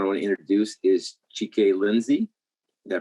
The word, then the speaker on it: Chike: The first one I want to introduce is Chike Lindsay. Did I pronounce that right?